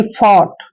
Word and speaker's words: fought: अब देखिए FOUGHT, देखिए एफ का उच्चारण हम फै कर रहे हैं, फै, और यहाँ पे आ गया OUGHT, इसका सारे का उच्चारण हम ऑट करेंगे, ऐसे ऑट, यानी कि फॉट।